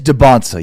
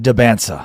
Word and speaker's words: DeBonsa: It is DeBonsa, yes. It's DeBonsa. Not DeBansa. It's not DeBansa. It's DeBonsa. Not DiBansa.